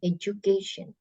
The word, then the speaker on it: education: Education. Jadi cara bacanya tuh bukan education, pakai D, pakai J ya.